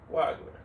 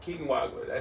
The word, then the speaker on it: Wagler: So Brooklyn might swing at Wagner. Or Wagner. Or not Wagner. What's his name? How do you pronounce his last name? Keaton Wagler.